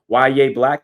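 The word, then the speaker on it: Yahya Black: But Ya Black, that is how you pronounce his name.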